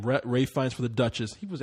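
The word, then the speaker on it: Ralph Fiennes: for doubt was up Ralph fines was up or Ray I even say his name Ray fines for The Duchess he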